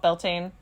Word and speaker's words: Beltane: Uh some people call it Beltain. Belchina is the Gaelic pronunciation and I'm going to go with that.